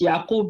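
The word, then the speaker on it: Ya'qub: Yeah, It's Yaqub in Arabic.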